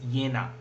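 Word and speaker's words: Jena: in a romanticism so yena romanticism is spelled as j-e-n-a and the pronunciation is yena and yenna is the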